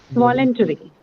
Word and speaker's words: voluntary: Second syllable also because the first sound is Schwa. what? Schwa. Schwa. Correct. Voluntary.